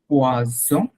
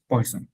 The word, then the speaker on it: poison: এটা হচ্ছে এই প্রথমটা পয়জন যেটা, হ্যাঁ এটা হচ্ছে পোয়াজন, পোয়াজন, বর্গীয় জ, বর্গীয় জ।